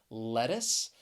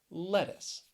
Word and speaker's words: lettuce: be a little confusing the c has really an s sound in that final syllable lettuce and the other thing